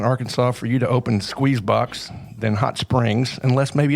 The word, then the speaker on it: SQZBX: Smith, owners, operators of SQZBX. Pronounced like all the letters are in there, but it's spelled SQZBX.